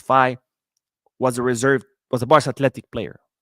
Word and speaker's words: Faye: I think someone told me it's pronounced Faye.